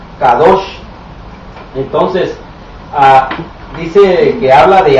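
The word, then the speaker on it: קדוש: agregamos la palabra santo, que en hebreo se pronuncia kadosh, entonces dice que habla de algo o de alguien.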